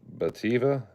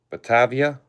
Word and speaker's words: Batavia: This is the Bativa. Bativa, I think is how you pronounce it. Batavia.